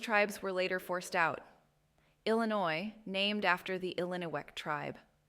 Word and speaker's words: Illinois: Illinois named after the Illino tribe. The S is silent.